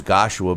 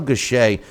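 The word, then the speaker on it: Gausha: mean case in point Terell uh gash is how they were pronounced ing uh his name I always thought it was gashua but uh Terell gashay who was a 2012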